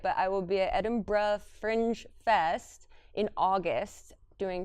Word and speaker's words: Edinburgh: I've been saying it wrong. It's Edinburgh, is how everyone in Edinburgh says it.